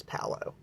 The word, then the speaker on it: Palo: I like white sage, but lately I've been wanting the Palo Santo, and a lot of people pronounce it Palo, but it's not. It's Palo.